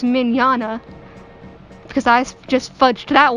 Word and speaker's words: Mignogna: First, you might want to know who Vic Mignogna, pronounced Mignogna, because I just fudged that one up.